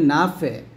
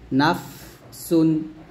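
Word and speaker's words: نَفْسٌ: থাকে তখন আমরা বলি নাফে, নাফে, এরকম একটা ডাবল শব্দ করে ফেলি বা কলকলের মতো আওয়াজ করে ফেলি। তো এটা নাফে না, বলতে হবে নাফ, নাফ, এরকম।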